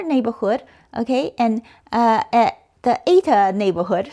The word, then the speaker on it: eta: okay, and at the eta neighborhood. So that thing there is pronounced eta. At least that's what the internet says.